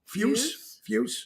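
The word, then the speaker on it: Fusz: Try having Fuse. F-U-S-Z as maiden name. No one can pronounce it. All right, now again, is it Fuse? Fuse, yeah.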